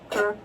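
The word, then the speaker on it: Kerr: down a little bit because this is in Kur County. Mhm. K E R R Kurr County. Okay. Uh maybe they don't pronounce it that way. We we do in this this area. Kurr.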